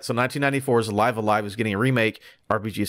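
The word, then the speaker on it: Live A Live: Now, I don't know how this is pronounced, but Live I know Alive. that Jared Petty, it's Live Alive? Yes. All right, so 1994's Live Alive is getting a remake.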